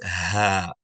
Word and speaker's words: ح: And this letter, its name is Ha. Okay. Now students, they tend to mix it up with the letter Ha in its pronunciation, not in its shape, but in its pronunciation, right?